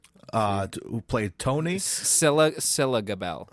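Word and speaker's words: Scilla Gabel: We got Sarah Shane as Angie, and we have Skeela Gabel. Did I say her name? Who played Tony? Scylla Gabel. Scylla. Yeah, like Priscilla.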